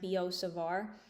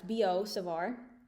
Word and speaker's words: Biot-Savart: this is called the bo savar law since they're french this is pronounced bo savar so don't go saying like biot it's bo savar so we're going to